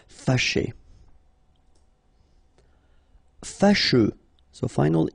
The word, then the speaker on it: fâché: Fâché. Okay, so remember that here, even if you've got this accent circonflexe on the top of A, well, technically, it doesn't really change the pronunciation. Fâché.